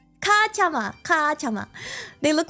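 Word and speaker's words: cachama: I think they're pronounced. Katama. Katama. C A C H A M A. I'm not very good with like how to pronounce. Maybe I should have looked this up before. I'm like kacha kacha. Oh, it's kachama.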